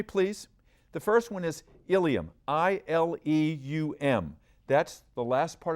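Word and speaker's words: ileum: They sound alike, but they're spelled differently. Watch me please. The first one is Ilium, I-L-E-U-M.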